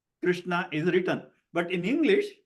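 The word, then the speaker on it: Kṛṣṇa: So even the name Krishna, the R in Krishna, it is not Krishna, but we always see it spelled as K-R-I.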